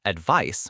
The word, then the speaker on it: advice: A good way to remember might be that the noun advice with a c is like other nouns ending in ice, such as practice or device, which often have that s sound, while the verb advise with an s shares the z sound with many other verbs like devise or revise.